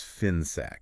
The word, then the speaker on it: FINSAC: we're talking about finac f i ns a c pronounced finac right finac and to really